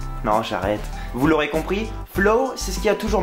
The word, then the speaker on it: Flow: Oui, ça se prononce comme ça. Flow.